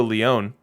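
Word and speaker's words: León: a wild future legend pedro leone i believe that's leon correct me if i'm wrong i'm itching to get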